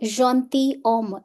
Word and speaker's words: gentilhomme: gentleman a gentleman they gentilhomme s here is silent they gentilhomme means some